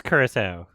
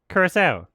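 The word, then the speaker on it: Curaçao: interviewing people on the street to rock cow Curacao Curacao great orange liqueur coming from the country of Curacao itself You Can't Screw okay it is Curacao Curacao Blue Curacao Curacao I've been gaslit my entire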